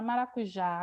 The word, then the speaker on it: maracujá: Maracujá. Se for separar sílaba, eu vou ter maracujá, 4 sílabas. Mas a última sílaba é a minha sílaba forte da palavra.